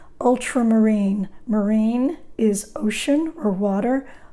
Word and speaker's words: ultramarine: crimson this is ultramarine blue accent on the ultra ultramarine marine is ocean or